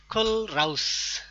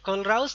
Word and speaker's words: Kohlrausch: I have tried several times to find out the exact pronunciation. Kohlrausch, like this. Kohlrausch law, and we know I will show you